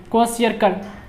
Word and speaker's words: Kwashiorkor: एज क्वेशियरकर, ठीक है, spelling को याद करिए, क्वेशियरकर, और इसका प्रोनाउंसिएशन पे भी ध्यान दीजिए, 2-3 बार बोलिएगा तो याद हो जाएगा।